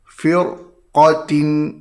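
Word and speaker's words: فرقة: Cara bacaannya hendaklah dibaca dengan tebal. Firqatin.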